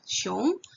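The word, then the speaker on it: 熊: Digabung jadi satu, xiong. Ini contohnya pakai nada 2 ya, xiong.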